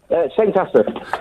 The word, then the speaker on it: St Asaph: How do I pronounce the name of your town, Neil? St Asaph.